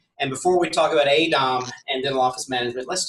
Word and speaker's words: AADOM: AADOM. AADOM is how AADOM. I think it's you have to pronounce the two A's.